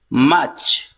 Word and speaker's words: March: In British pronunciation, R is silent here. March.